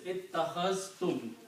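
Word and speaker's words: اتَّخَذْتُمُ: Ittakhaztum, because this is ittakhaztum. You have to combine these two, you have to pronounce ittakhaztum.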